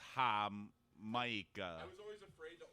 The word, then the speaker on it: jamaica: they have Tamarindo too it's spelled Jamaica but it's Mexican so it's ha M I was always afraid